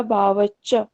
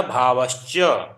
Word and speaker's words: भावश्च: ततः प्रत्यक्ष चेतना अधिगमो अंतराया भावच्च। जी, भा का उच्चारण भी कीजिएगा, भावश्च।